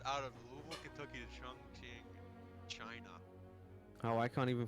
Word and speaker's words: Chongqing: I said that boys' trip to I think it's pronounced Chongqing is what it's pronounced.